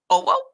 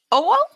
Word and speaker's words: Owo: I think Cirrus would say that it's actually spelled and pronounced Owo. Owo.